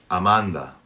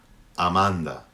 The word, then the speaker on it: Amanda: three aids in Spanish Amanda in English a name like Amanda is pronounced man the UH we don't have that in Spanish the a is gonna have the same sound throughout I'm on the bit